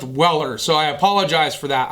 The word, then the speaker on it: Weller: think I called them wheeler when we did our walk around at Home Depot I think it's pronounced Weller so I apologize for